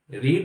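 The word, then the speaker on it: read: हो यस I have ठीक है थर्ड फम रीड रेड रे आ तो रीड की जो स्पेलिंग सेम होती है रीड की स्पेलिंग है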